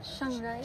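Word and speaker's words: Chiang Rai: North of sii Oh that's how you pronounce it Shang rai siii I thought It's Chang R The Road we take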